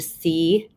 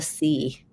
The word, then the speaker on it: See: So notice he says normally stay close to the sea, and that's the holy city, the Vatican, Rome, is called the sea.